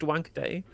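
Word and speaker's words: Wankhede: That is literally how it's pronounced. Wanker day.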